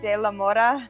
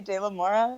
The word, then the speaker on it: De La Mora: I know, like with the Spanish accent, it's like De La Mora. Yeah, but I just say De La Mora.